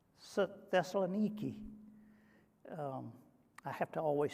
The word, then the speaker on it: Thessaloniki: the alphabet is niki we would call it nike but it's pronounced nikki and today it has